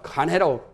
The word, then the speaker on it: 간혜: 발음을 건이라 해도 하고 간이라 해도 보통 간이라고도 건천할 때는 저 경주 다음 건천할 때는 발을 건자도 하고 발을 간자도 하고 발음은 두 가지로 가는데 보통 발음을 간해로 발음합니다. 발을 간자요. 하늘 건자가 아니고 발을 건자 건시 꽃감보 건시라고 하죠. 발음은 그러니까 건이나 간이나 통용을 해요.